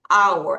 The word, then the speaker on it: hour: 1 hour 다시 hour h 아니야 hour 아니야 hour 이렇게 되는 겁니다.